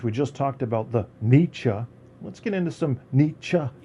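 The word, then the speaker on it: Nietzsche: Um, and I think since we just uh since we just talked about the niche, let's get into some nichems. How to pronounce his name.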